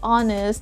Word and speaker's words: honest: know already just like the letter h in the word honest it's not honest it's honest what i'm talking about